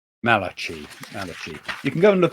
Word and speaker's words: Malachy: How do you pronounce his name? Malachy.